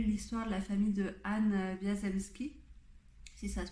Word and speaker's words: Anne Wiazemski: mais j'avais lu l'histoire de la famille de Anne Wiazemski, si ça se prononce comme ça, dont les ancêtres vivaient en